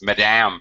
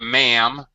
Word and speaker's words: Madam: President, it's Madame President. And here, oh, that's very interesting. Not ma'am, but you would actually be pronouncing the D, Madam President.